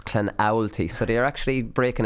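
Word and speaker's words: Clonoulty: Now, I've got a lot of people tweeting me recently, Canalty Rossmore, about my pronunciation, so I messed up. I was Clanulty, but it's Clanowlty, so they are actually breaking it down into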